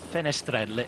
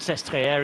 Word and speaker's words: Sestriere: You might know as well that Sestriere is a French name. Pronounced in the French way rather than the Italian.